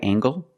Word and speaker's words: angle: is this a right angle that's right this is a right angle use the nasal plus the hard angle this is a right